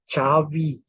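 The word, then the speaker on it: Xabi: proper noun x a b i X is pronounced picture Xavi is Chavi that is Javi okay then let's try to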